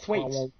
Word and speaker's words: Thwaites: Thwaites.